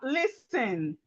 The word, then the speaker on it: listen: So we have listen. Listen. The T here is silent.